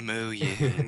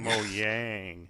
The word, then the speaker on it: Mojang: Just like how you can now pronounce Mohang. Yeah, Mohang. Mojang. Mo Yang.